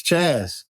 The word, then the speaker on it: Chas: You said Chase. It's Chaz. It's Chaz. I keep getting it wrong. Because you look at CHAS, right?